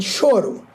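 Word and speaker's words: choro: on Amazon it's called shoru yes can you tell everyone that it's it's pronounced that way and it's spelled c h o r o so it's not CH it's sh and it's a genre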